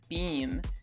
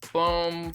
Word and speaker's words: Beam: Beam. I've heard this last name pronounced multiple ways. Bohm, Beam, Bohem. One of the reference books that I have is pretty insistent that it was pronounced Beam, so if you know differently,